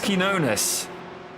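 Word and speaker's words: Quiñones: Max is pronounced Max Quinones. Quinones. Oh, Quinones. It's like cojones.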